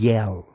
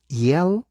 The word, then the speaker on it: Yale: nivel mundial, Harvard y Yale. Yale se escribe Y-A-L-E, La A es E, la E no se pronuncia y la L, Yale, la Universidad de Yale, ¿ok?